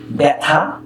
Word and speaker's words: ব্যথা: বয় জফলা থয়াকার ব্যথা এটি বানান, আর শুদ্ধ উচ্চারণ যখন তুমি লিখবে তখন বয় জফলা আকার থয়াকার ব্যথা।